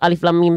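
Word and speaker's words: الم: pada kalimat alamat atau Alif Lam Mim Tadi kenapa bacalah sesuai nama hurufnya dan panjangkan dua harakat pada huruf berfathah tegak dan enam harakat pada huruf yang bertanda alis pink dibacanya Alif Lam Mim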